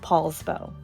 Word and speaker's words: Poulsbo: it to Washington, D.C., the handwriting was misread, and therefore it was known as POULSBO with an OU thereafter. But I learned after the fact that it is still pronounced POULSBO.